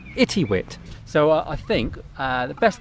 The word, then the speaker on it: Itiwit: right this is uh i think it's pronounced itty wit so i think the